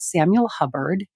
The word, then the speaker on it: Samuel Hubbard: And it's a brand called Samuel Hubbard, just how it's spelled sounds.